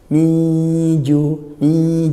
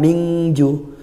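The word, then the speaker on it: من جوع: Minju ikhfa haqiqi, nun sukun bertemu jim, maka dibaca samar. Nunnya masih ada sedikit tapi langsung ke makhrajnya jim. Miju, bukan mingju.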